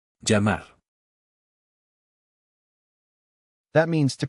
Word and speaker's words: llamar: Llamar. That means to call. The double L makes the ya sound, just like in the word for key.